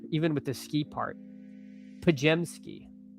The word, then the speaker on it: Podziemski: Pajemski. Not Podziemski. Who could have foreseen me getting this name wrong?